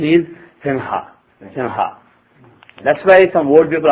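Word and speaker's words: सिंह: So, if you have Simha, basically the correct pronunciation is, think as if you are going to pronounce Singa. And then when you say Sing, just before you are about to say Ga, instead of saying Ga, say Ha. Otherwise you will just end up saying Simha.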